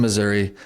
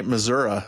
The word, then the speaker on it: Missouri: I don't know anyone else who knows more about 1838, '39 Latter-day Saints in Missouri than Alex Baugh, our guest today. Do you? He even knows enough to say Missouri instead of Missouri, which you've corrected me several times on this, Alex.